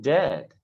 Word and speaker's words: dead: And dead, it's said like bed, not bead. For goodness sake, don't call it deed.